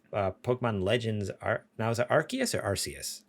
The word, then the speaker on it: Arceus: Okay, that's what I've been saying, but then I heard someone say Arceus, and I was like, that's how we used to say it before we all found out how it was actually pronounced. I used to say Arceus. Then they said Arceus, so it's Arceus.